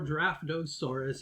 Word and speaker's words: Draftosaurus: Our number 5 is Draftosaurus, or Draftosaurus if you want to say it correctly.